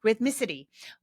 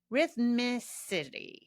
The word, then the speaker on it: rhythmicity: Rhythmicity. Rhythmicity. Yeah, I'm saying it right. Oof. That's a tricky word. There's a lot of R's and M's in there.